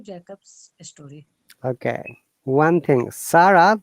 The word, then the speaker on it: Sarah: One thing, Sarah, the way you have pronounced it looks like Arabic name. In English, it is called Sarah.